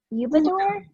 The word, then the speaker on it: Udabor: of your last name is it eubank okay so just like it's spelled yes perfect perfect perfect well